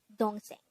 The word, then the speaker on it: 동생: hangout word number 141 this is pronounced as a two-syllable word the first syllable is long the second syllable is pronounce it with me the word don sing is to korean noun